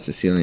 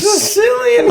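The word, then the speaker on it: Cillian: Cecilian Murphy, or oh, it's not Cecilian. It's Sicilian. I He's thought a it was fucking sandwich.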